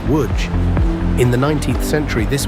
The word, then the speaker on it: Łódź: Say it like woodge.